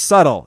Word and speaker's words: subtle: cuz you can't be like hey Melinda it's pronounced subtle you know because it's embarrassing as a motherfucker